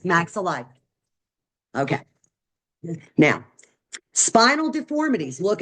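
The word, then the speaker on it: maxillae: there's actually two maxel and that's how it's pronounced maxel okay now spinal deformities look at these people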